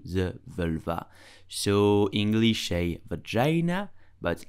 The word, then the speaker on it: vagin: So, English a vagina. But how do you pronounce it in French correctly?